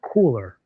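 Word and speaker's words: KULR: out of Webster, Texas, called KU LR, which is pronounced cooler.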